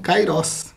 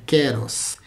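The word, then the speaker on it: καιρός: que você conhece como kairos. A pronúncia é keros. É, a gente tá acostumado a falar kairos, kairos, kairos, inclusive a definir kairos como sendo o tempo de Deus.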